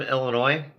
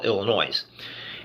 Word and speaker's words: Illinois: Illinois, so they call Illinois. And if you're from Illinois, it's one of those just pet peeves that drives you crazy when you hear somebody pronounce the S on Illinois.